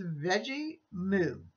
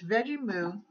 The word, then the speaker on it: Veggemo: And this is Veggie Moo. And it's spelled VEGGEMO, M-O. And it's Veggie Moo.